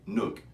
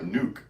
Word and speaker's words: Nook: I used to call it the Pipe Nuke. I know. Like we're gonna nuke the world with pipes, I started telling people I'm not bombing anyone. Yeah. It's Nook. It rhymes with hook.